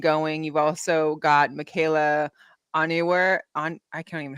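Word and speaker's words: Onyenwere: You've also got Michaela Onyewer. I can't even know how to pronounce her last name. I'm sorry. From Liberty. No. Onyewer.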